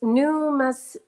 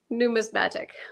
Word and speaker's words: numismatic: coins I'm going to try to pronounce it it's newmatic new newmatic numismatic wait Peter's saying in